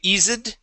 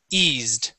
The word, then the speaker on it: eased: go to the word eased instead of Eed eased eased good okay uh this word